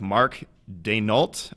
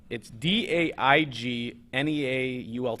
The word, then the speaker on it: Daigneault: And I'm going to go with Mark Daigneault. I'm going to say the G is silent. And that's the best I got. So, yeah, it's Daigneault.